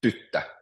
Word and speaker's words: tyttö: Or tyttö, which means girl, so it's tyttö. So the stress is always on the first syllable.